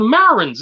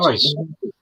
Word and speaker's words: Martyrs: Is it the Marins? Is it the Marins? Am I pronouncing that right? Martyrs. The Martyrs, is that what it is? Martyrs, yes.